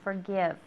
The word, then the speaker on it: forgive: Remember it has the V sound, forgive.